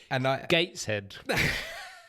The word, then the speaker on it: Gateshead: i said the the the place across the river from new castle beginning with w is like definitely begins with a w gateshead silent w just silent w before that which is